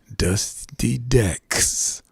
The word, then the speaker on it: Dusty Dex: is flowers but just i have to say the name carefully i said carefully by dusty dex okay i said it right i said it slowly so y'all know it's dusty dex foreign do